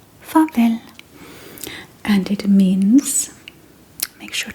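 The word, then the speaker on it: farvel: So f a r v e l fav and it means make sure to write the translation down so you can remember goodbye.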